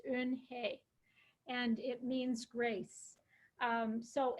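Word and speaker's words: Unhei: could pronounce it and I looked for a pronunciation myself of it it's in hey and it means grace so anyway through a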